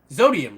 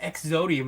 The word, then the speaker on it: Xodium: orbs zodium retro oh does he pronounce it exodium or zodium which one is it whatever zodium right sodium because some people on stream call them exodium and I'm like that's not what I mean that's that's what I